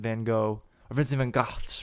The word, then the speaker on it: van Gogh: It was called The Starry Night, and you're like in Vincent van Gogh's room. That's how you actually pronounce it.